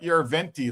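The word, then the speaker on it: Järventie: The Finns always pronounce like we say Helsinki. The Finns say Helsinki, right? They emphasize the first syllable. So it's not Yarventi like we would call him. It's Yarventi. For what it's worth, I'll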